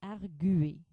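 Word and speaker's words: argüer: gageur ou plutôt gage doit-on prononcer arguer comme dans naviguer ou arguer doit-on séparer ici les digrames qu'on rencontre habituellement d're dans d'autres mots français la réponse est on doit prononcer gagure et arguer donc le tréma est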